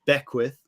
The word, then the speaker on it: Beckwith: to pronounce it so my last name is Beckwith and we've abbreviated to so um some people